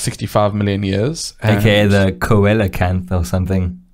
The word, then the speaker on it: coelacanth: something strange it's silicon the pronunciation like the phonetic pronunciation is is legitimately s-e-e-l dash u h dash k-a-n-t-h c-l so now the coelacanth the the reason why